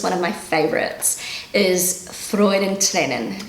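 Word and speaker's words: Freudentränen: is freud and lennon that's very hard for a native english speaker to pronounce i'm trying to get the rolling of the r in the back of my throat rather than the tip of my tongue but you know i'm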